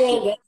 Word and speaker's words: Iyengar: A Soninha foi minha professora de yoga, da técnica Iyengar, né, Soninha? Pronuncia Uhum. assim? A Pronuncia. Iyengar.